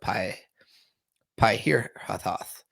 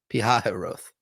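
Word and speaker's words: Pi-hahiroth: Then the Lord said to Moses, "Tell the people of Israel to turn back and encamp in front of Pi Hirathoth between Migdol and the sea in front of Baal-zephon.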